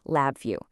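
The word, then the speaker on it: LabVIEW: The next big thing was a tool called Lab View. And yep, that's pronounced Lab View.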